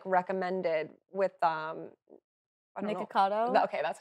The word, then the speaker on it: Nikocado: But one was like recommended with Nikocado.